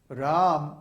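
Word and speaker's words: Rama: and then in R Ram the first a in Ram is long so it's held for two beats ra and then the a in MA is short so it's ra so when you chant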